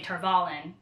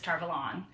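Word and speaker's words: Tar Valon: there are some pronunciations, like they say Tarvalin, and she says Tarvalon. There are a few... I like Tarvalon better.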